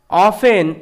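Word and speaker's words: often: অফেন, এখানে দেখো এটার উচ্চারণ অফেন হচ্ছে, কারণ কি, কারণ এফ এবং ইএন এর মাঝখানে টি থাকলে টি সাইলেন্ট থাকে, ওই কারণে এটা অফেন,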